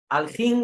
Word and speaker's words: Elohim: Lo que viene a decir los aljín, porque aljín es otra forma de pronunciar Elohim.